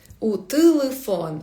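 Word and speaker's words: telefone: Телефон в португальській мові не телефон. Так пишеться телефон, але вимовляється е. Іноді як и це також є в моєму міні-курсі по вимові, якщо окремо брати.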